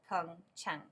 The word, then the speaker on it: Pyeongchang: before we get started here is how to pronounce Fung Cheung come time counter has two syllable poem time